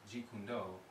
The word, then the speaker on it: Jeet Kune Do: And for those of you who are new to this term, Jeet Kune Do, you spell it as J-E-E-T-K-U-N-D-O.